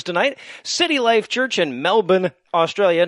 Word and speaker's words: Melbourne: And in Australian fuck hugs news tonight, City Life Church in Melbourne, Australia, notice I left the R out, I'm multicultural, well is done.